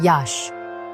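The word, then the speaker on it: Iași: Here we find Yasi, pronounced Yash, the great cultural capital of the region.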